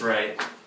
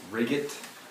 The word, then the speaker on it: Wright: Libertarian Economic Science, Douglas Wright. Dr. Wright, thanks for joining us. It's actually pronounced Riggett, Bill, but thanks for inviting me.